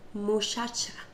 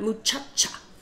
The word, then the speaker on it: muchacha: In Chihuahua, a lot of people, instead of pronouncing the CH harsh, like ch, ch, ch, they'll pronounce it as more like an SH. Chihuahua. Muchacha. Not muchacha, but muchacha. Chihuahua. It's a very, very soft way of pronouncing the word.